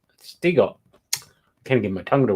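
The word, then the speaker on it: Siegel: It should be Shiegel. It's Jerry Shiegel. Stiegel.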